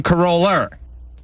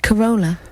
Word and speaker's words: Corolla: But then when there was opportunities to use an A, like Corolla, it would become Coroller. See what I mean? They're spiting you. Corolla.